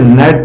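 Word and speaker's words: gnat: है और मैंने बताया जब भी जी एन साथ में आएगा तो जी साइ रहता है और इसे नेट पढ़ जाएगा नेट का मीनिंग लड़ाकू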